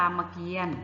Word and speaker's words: รามเกียรติ์: ไว้ ข้าง บน คะ คำ ว่า รามเกียรติ์ นะ คะ ต เต่า สระ อีก นะ คะ มี เครื่อง หมาย ทัณฑฆาต กำกับ อยู่ ข้าง บน ก็ จะ งด ออก เสียง นะ คะ พืช พันธุ์